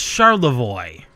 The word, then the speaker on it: Charlevoix: Yeah, look up how Charlevoix is spelled. That's pronounced Charlevoix.